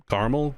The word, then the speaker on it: caramel: Uh, apparently in America it's popular to drop the second a and just say caramel.